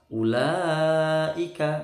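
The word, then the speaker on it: أولئك: Terus ulaika. Nah, ulaika wawunya nggak ada harokatnya, tidak usah dibaca. Bacanya pendek ulunya.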